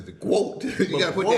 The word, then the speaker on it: GWOAT: I thought she pronounced it as quote. Quote. Yeah, quote. Greatest woman of all time. Yeah, but how she said it was like quote. Like the GWOAT. It sounded like she said quote.